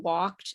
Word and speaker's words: walked: That you pronounce the ED sound in walked and talked. Okay, so it's not walked and talked, it's walked and talked.